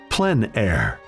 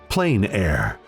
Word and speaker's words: plein air: open air or outdoors the french pronounce it plein air others say plain air no matter how you